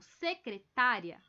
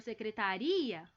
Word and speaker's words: secretaria: O mais forte vai ser o ri. Caso a palavra destacada seja pronunciada como secretária, o ouvinte entenderá que uma moça teve problemas. Já se a pronúncia for secretaria, o ouvinte entenderá que